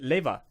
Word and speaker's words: Lewa: Well, all of my European coworkers, they always pronounce it Leva, and so he took it Leva, and he figured, okay, so they think it's Lewa, and it's spelled Lewa.